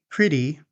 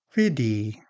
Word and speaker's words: pretty: Flap T usually appears when T becomes between two vowel sounds and the T is an unstressed syllable. Some examples are water, city, computer, better, pretty, meeting.